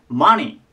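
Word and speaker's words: money: なお金ですただ発音としては 2 ですねじゃなくて 2 マニていう感じになりますでえっとちょこちょこ話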